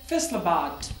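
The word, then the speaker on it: Faisalabad: आप उर्दू में कह सकते हैं फैसलाबाद बट in English you will say फैसलाबाद बाद क्योंकि डी की साउंड है.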